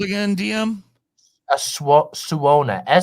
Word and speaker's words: suona: called again DM a suona su n AA is how it's pronounced here's some closeup detail